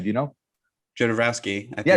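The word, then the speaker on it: Jodorowsky: in the 70s of june by uh alejandro you ordered ski or whatever how do you pronounce his name do you know genovaski yeah it's john devasky so amaze and there's a doco that's available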